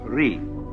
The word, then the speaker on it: Ri: Second, the world that is called Ri, R-I.